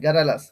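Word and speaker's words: garrulous: মানে তুমি যদি ফার্স্ট কথা গ্যারালাস, এরকম আসবে গ্যারালাস, গ্যার আল আস, গ্যারালাস, এরকম প্রনাউন্সিয়েশনটা আসবে।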